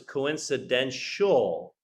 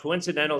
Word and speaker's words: coincidental: right but I think you pronounce this coincidential right so there's no I so it's a coincidence yeah you wrote it well you just slight mispronunciation all right coincidental circumstances last Leaf was